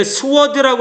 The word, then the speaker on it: sword: 얘를 sword라고 읽으시면 안 돼요. 얘는 어떻게 읽으셔야 되냐면요. sword라고 읽으셔야 됩니다.